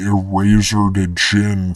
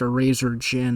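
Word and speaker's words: Erazor Djinn: It would be Eraser to Jin. Eraser to Jin. I just found out it's pronounced Eraser Jin.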